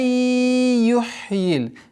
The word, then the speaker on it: يُحْيِي: Каля май юхьил. Здесь у нас частичная ассимиляция в размере 2 огласовок, удержание назализации. Май юхьи. Юхьи. Обращайте внимание на четкое произношение ха.